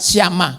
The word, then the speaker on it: Sama: Sesudah dia ya sama ini nama orang dibaca siama gitu ya sama tulisannya sama tapi bacanya siama.